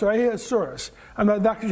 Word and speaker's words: Ahasuerus: name of Ahasuerus, or Ahasuerus. And that's how you pronounce it. The first 3 letters are AHA, like aha. But the rest of the name is it almost sounds like a dinosaur, Ahasuerus.